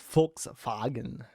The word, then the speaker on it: Volkswagen: I don't know why she was obsessed with the fact that in German, Volkswagen is pronounced Volkswagen.